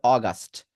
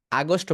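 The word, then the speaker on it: August: আর আরেকটা হচ্ছে অগাস্ট, অগাস্ট, সরয় গাস্ট, অগাস্ট। আগস্ট বলা দরকার নেই, অগাস্ট, ওকে।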